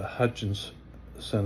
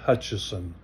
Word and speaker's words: Hutchison: do you know what the Hutchinson Effect is or better pronounced Hutcheson effect it's uh I I